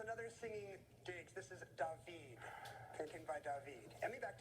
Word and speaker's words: David: He's French, so say his name like that of singing actor Diggs. Stan. What is Tay? No. Matt or Emmy? There is another singing Diggs. This is David.